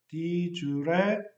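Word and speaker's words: de jure: 근데 이 J라는 게 영어로는 J 발음이 나는데 라틴어로는 또 U 발음을 냅니다. 그래서 di jure라고 하기도 하고 di jure라고 하기도 합니다.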